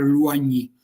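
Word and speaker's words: Loigny: alla battaglia di Luagni, quella che ha scritto Loign dovrebbe pronunciare Luagni.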